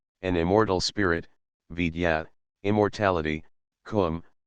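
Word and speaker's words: Koom: immortal Spirit vya immortality Kum pronounced like the Welsh cwm denotes something of holess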